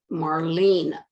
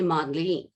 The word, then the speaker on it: Marlene: have to understand that my name has an r in it it's marlene r and what we found what i found was that the japanese clients could not pronounce my name because i came to understand that the sound r and the sound l does not exist in japanese so they could not hear the r so they would say modeling they would skip the